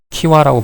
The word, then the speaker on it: 기와: 근데 우리가 키와라고 발음하고요.